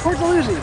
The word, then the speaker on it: Port Dalhousie: my body yet so poor delusion and saint catherine is that how you say it to lucy yeah poor delusion i never knew how